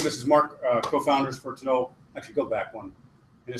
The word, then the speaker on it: Tinole: So the pronunciation is Tinole. It's based on an Irish word. The original spelling is it's closer to that Irish spelling, but just kind of wasn't working for folks.